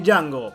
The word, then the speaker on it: Django: 200 curiosidades de Django, porque... The D is silent.